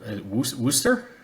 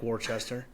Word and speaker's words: Worcester: sitting in um where Worster Yeah, Worcester. Yeah. Spelled like Warchester, not pronounced like Warchester.